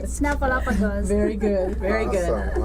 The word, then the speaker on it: Snuffleupagus: Snuffleupagus. Did I say it right? Snuffleupagus.